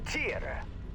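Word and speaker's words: Tyr: Shut down and submit to the Tier or be destroyed. Tier, perfect. That's correct pronunciation.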